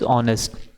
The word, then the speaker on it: honest: Okay, some example if we say, like given in our question paper, honest, it is pronounced as honest.